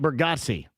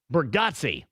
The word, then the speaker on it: Bargatze: Rhymes with Yahtzee.